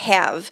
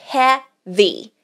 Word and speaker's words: heavy: Não dá pra falar have, porque daí a gente vai estar falando o verbo ter, possuir. E não é isso, é heavy.